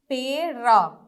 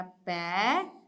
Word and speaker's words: पैर: अब क्या है, पेड़, पेड़, तो पेड़ नहीं होता, क्या होता है, प में ए की मात्रा नहीं होगा, प में ए की मात्रा पैर, पैर।